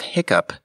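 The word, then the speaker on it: hiccough: doesn't make any sense the spelling of Hiccup h i c c o u g is an anomaly it resulted from an association in the 1600s that the Act was related to coughing the standard hi I CC u p spelling has mostly replaced it there is no other established pattern for GH sounding like P and certainly not at the start of a word though it can sound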